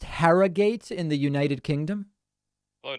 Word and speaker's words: Harrogate: next to evan from herrera is it pronounced harrogate in the united kingdom hello david can you hear me okay yeah i can hear you fantastic it's pronounced harrogate actually harrogate i like it um yeah so i just